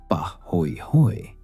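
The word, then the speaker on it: pāhoehoe: Bahooi pronounced pah hoi hoy is smooth ropey lava that forms when the top surface cools and wrinkles while hot lava continues flowing beneath.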